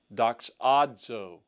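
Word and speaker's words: δοξάζω: The present form is doxazo, doxazo, but the future form is doxaso.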